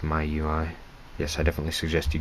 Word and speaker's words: MIUI: rom my ui miui i'm pretty sure it's pronounced my ui yes i definitely suggest